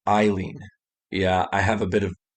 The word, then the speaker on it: Aileen: of aileen warnos right how i said alien it's actually pronounced eileen yeah i have a